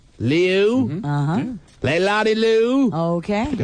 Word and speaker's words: Liu: I believe the last name is pronounced Liu, L-I-U. Liu.